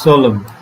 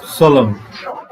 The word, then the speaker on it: solemn: you should we know the pronunciation it is solemn can you hear solomon in america it is pronounced solemn in british solemn solo means a serious